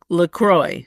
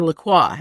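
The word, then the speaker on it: LaCroix: my insistence we have lroy water or laqua as it should be pronounced we have that but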